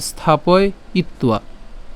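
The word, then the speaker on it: স্থাপয়িত্বা: এখানে আমাদের অন্তস্থ আছে অন্তস্থ এর উচ্চারণ কার মত হয় উর মত হয় তো সেজন্য এর উচ্চারণকে কেমন হবে উয়া হবে তাহলে স্থাপয় ইত্তুয়া আবার বলছি স্থাপয় স্থাপয়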